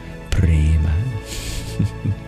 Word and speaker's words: prema: If you want to say the bliss of love, you'd say premananda, the bliss ananda of love, prema. Radhe, Radhe, dearest Magdalene Priya. You're very welcome. That's spelled P-R-E-M-A.